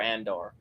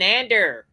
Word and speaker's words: Andor: that British guy says says it differently than he he says it like with an e it's it's or like Endor so Andor it should be Andor the way it's spelled but that British guy